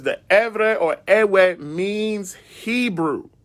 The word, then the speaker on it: Ewe: So in this article, it says, as I pointed out in the previous article, the proper pronunciation of the name of my people is Erverh and not Ewe, right?